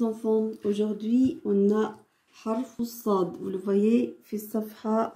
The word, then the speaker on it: ص: Et Sad, il est gonflé.